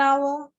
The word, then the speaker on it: hour: begin with a consonant the initial consonant h is not pronounced that is it is silenced as a release their